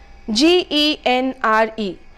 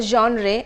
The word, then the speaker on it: genre: are talking about a genre and not a genre it's not a generator it's a genre all right you're talking